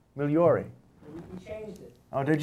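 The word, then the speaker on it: Migliore: Migliori? Fine. See, you're not saying it right. It's Migliori. M-I-G-L-O-R-E. Migliori.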